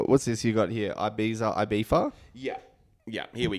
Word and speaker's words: Ibiza: I can't stand it I don't like people calling it ibifa or ibifa it's Ibiza are you sure they're